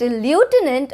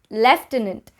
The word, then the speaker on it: lieutenant: is the correct pronunciation so is it illutenant or is it left in it so the both the pronunciations are correct it can either be left in it it can either be lieutenant both of them are correct on number seven we